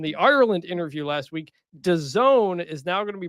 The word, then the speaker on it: DAZN: That sound was 20% of our listenership realizing that it's pronounced DAZN and not.